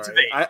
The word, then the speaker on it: Tveit: Also, Aaron Tveit. Yeah. It's definitely Tveit. As I was saying it, I realized I was saying it wrong, so don't worry.